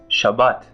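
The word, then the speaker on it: שבת: have reached the holiday Saturday and in Hebrew Shabbat Sha but as I said before we usually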